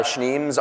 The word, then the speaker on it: Schneems: schneeman I go by schneems on the internet a lot of people have a difficult time pronouncing this I say it's it's kind of like schnauzer or schnapps some some people think